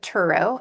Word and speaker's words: Turow: No, we both pronounce it Turow, actually.